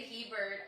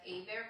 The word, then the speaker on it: Hebert: It's spelled Hebert, but my business starts with an AY because a lot of people would mispronounce our last name. So people would say Hebert all the time, and there's only been probably like 3 people that have said Aybear properly because they're familiar with Louisiana and how it's a French name, but they pronounce my